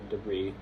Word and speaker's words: debris: Um and the the um vestigial letters in these words were pronounced in French all the way up to right before they were borrowed into English and then they just weren't once um once the English started pronouncing it like using those words. And they are chateau, corps, queue, and debris.